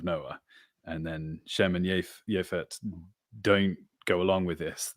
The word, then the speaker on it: Japheth: So may he sort of spread out, become broad, and so Yafet is the land. name that we normally pronounce as Japheth, right?